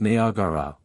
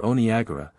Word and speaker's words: Niagara: land next day Niagara the Cataract of Niagara properly pronounced nagara or Onaga is as fatal as